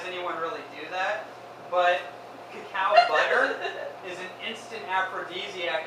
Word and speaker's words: cacao: Really what you want is cacao. C-A-C-A-O. That's what the ancient people revered. That's how they pronounced it, by the way, like K-A-K-A, cacao.